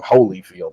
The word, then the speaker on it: Holyfield: I call him Holyfield, like holy.